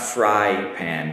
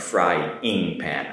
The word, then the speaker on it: frying pan: Not fry pan, but frying pan, I-N-G. Make sure you say it correctly, frying pan.